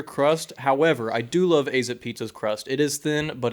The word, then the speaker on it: Azzip: And no, it's pronounced Azzip Pizza.